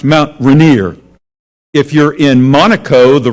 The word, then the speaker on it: Mount Rainier: r-a-i-n-i-e-r well if you're in washington state it's pronounced mount rainier if you're in monaco the royal family those